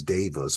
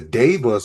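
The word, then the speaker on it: daevas: I want to speak about these devas because it's not the Vedic devas, but it's pronounced the same way.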